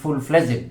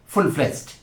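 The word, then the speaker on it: full-fledged: গ্রেজুয়েলি গিয়েছে তাই আমরা ফুল ফ্লেসড বলি এটি প্রচলিত উচ্চারণ বাংলাদেশে অনেকেই বলেন ফুল ফ্লেজেন্ড না সেটি ভুল ফুল ফ্লেজড তো এই হল ইংরেজি বিভাগের অধ্যাপকদের অবস্থা এবং ইন্টারেস্টিংলি আমি তখন মার্কিন যুক্তরাষ্ট্রে চলে যাই।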